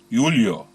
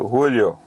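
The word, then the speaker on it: Eulo: E-U-L-O. Let's call it Ulyo. Perhaps it's Ulyo in English. We're at Ulyo.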